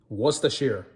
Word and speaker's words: Worcestershire: Another thing that you need to know, what's the shear? What's the shear? What's the shear sauce? Right there. Boom. What's the shear? That's how you pronounce it. It's Worcestershire.